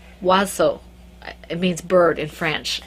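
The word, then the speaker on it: Oizo: It's actually French. The only reason I know how to pronounce this, and I probably pronounce it horribly, is because she put a pronunciation on her profile page. It's O-I-Z-O, Wazo.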